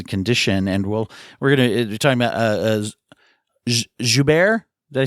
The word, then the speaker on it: Joubert: I got from reading, even just kind of leading up until your experiences learning about Suzy's condition, and we're talking about Joubert.